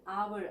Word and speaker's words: hour: An hour, again H is silent there. The sound is vowel sound of O.